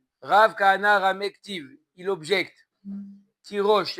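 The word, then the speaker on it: תירוש: Il s'écrit tirage et il se lit tirosh.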